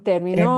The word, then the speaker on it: terminó: Bien, terminó. Terminó. And I heard the right emphasis on the syllable.